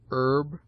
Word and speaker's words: herb: It seldom begins any but the first syllable, in which it is always sounded with a full breath, except in air, herb, ostler, honor, humble, honest, humor, and their derivatives.